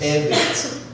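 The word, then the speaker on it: עבד: And in Exodus 21, it's pronounced eved.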